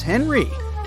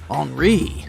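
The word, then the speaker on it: Henri: And this is Henry, but it's more correct to pronounce his name as Enri since he's French.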